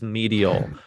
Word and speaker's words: Medial: with a title that I looked up the pronunciation of it is medial so medial is build as sodoku meets mind